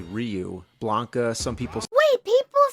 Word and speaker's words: Ryu: like in Street Fighter we didn't know rayu was actually Ryu Blanca some people wait